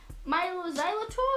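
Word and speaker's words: Mylo Xyloto: I mean, it's meant, according to this, right, it's meant to be Milo Xylotto, is that right?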